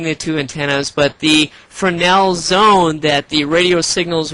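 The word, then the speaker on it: Fresnel: spelled f r s n l but it's pronounced Fel Zone and within this Fel zone is there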